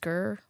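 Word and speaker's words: skyr: know what I think it's pronounced skir like Icelandic skir it's like yogurt but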